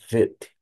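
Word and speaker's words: בית: Observe que não tem um pontinho dentro, o chamado da Gig, não tem esse pontinho dentro o som de V, porque a letra chama-se Vet.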